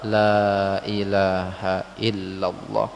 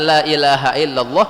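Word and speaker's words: لا إله إلا الله: Kesalahan kedua, pengucapan la ilaha illallah adalah lam di awal dibaca pendek. Hati-hati. Lam di awal itu dibacanya panjang.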